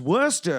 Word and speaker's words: Worcester: told me he's like it's pronounced worcester it's worster and i'm like you